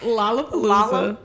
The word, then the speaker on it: Lollapalooza: not from here, so that's why she said Lola. How do you say it? Lollapalooza. I thought it was Lollapalooza. Oh. Is it Lola? Oh. What? It's Lollapalooza.